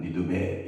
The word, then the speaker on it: 니느베: 다른 번역 성경에는 니느베. 원래 원 발음에는 니느베 이런 발음인데 니느베 이런 곳을 하나님께서는 진노하셔서 보복하신다.